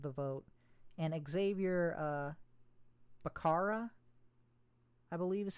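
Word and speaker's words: Becerra: And Xavier uh Barara, I believe, is how you say it.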